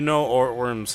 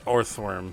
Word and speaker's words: Orthworm: I will say, Ortworm's height.